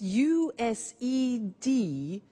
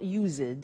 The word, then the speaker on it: used: we use used to look at the spelling s it's it's u s e d and then t o but the pronunciation is not used it's used unusual used okay so the